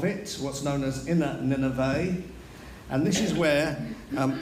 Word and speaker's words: Nineveh: great city of nineveh please get the pronunciation right it's not nivea non-nineveh it's nineveh okay so i don't know